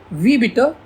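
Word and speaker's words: Wie bitte: वी बिटर। इसको हम pronounce करेंगे वी और उसको बिटर।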